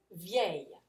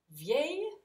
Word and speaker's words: vieille: Belle, nouvelle, vieille. Okay? So let's pronounce them together. Beau, belle, belle, nouveau, nouvelle, nouvelle, vieux, vieille, vieille.